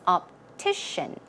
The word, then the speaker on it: optician: Pronunciation is optician, optician, optician.